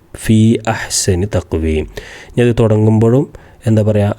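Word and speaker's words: فِي أَحْسَنِ تَقْوِيمٍ: പിന്നെ ഫീ അഹ്സനി തഖ്വീം എന്നാണ്. ഫിഹ്സനി തഖ്വീം എന്ന് പറയൂല. കാരണം ചേർത്തി ഓതുമ്പോഴും ഉച്ചാരണത്തിൽ വരും ഫീ അഹ്സനി തഖ്വീം.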